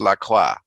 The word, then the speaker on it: La Croix: pronounce it wrong because it's pronounced la croix it's french i took a french